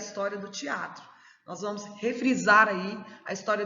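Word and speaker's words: θέατρον: E vem da palavra aí teatron. Eu penso que a pronúncia deve ser bem forte, né? Teatron, porque a gente vê aí que tem um acentinho na primeira.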